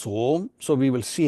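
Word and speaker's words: ॐ: om is derived linguistically composing of two letters I mean three letters akar ukar and Makara and from the way you pronounce this combination of these three letters it becomes home so we will see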